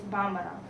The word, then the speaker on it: Bambara: But the most spoken is Bambara.